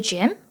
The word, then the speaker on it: gym: 때 발음 하실 때 입술 쭉 빼고 발음하시는 거 잊지 마시고요 he goes to the gym he goes to the